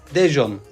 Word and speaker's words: Daejeon: dejon tren Station Geldik daj diye yazılıyor dejon diye okunuyor dejon yani Koreliler dejon